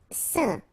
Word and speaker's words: saint: Saint, alright, so final T not pronounced, and then when you combine this A-I-N here, you get the sound, saint, saint.